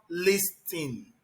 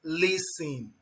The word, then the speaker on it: listen: It is not listing, it is listen. The T there is silent.